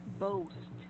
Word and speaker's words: boast: So for this one only, boast, Boast. boast. Mhm. A while ago, it sounded like boss.